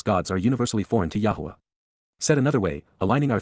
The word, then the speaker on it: Yahowah: Yahwa. Yahwa. The proper pronunciation of the name of Eloha.